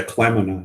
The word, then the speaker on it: kleinmanni: Isn't there's not an N in there? Yeah, there's an N in there. Kleinmanni. But I've never heard the N pronounced.